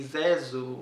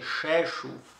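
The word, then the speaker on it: Rzeszów: sz o acento w que se lê zezo resolvi e que depois eu fui aprender que é fecho depois de 6 horas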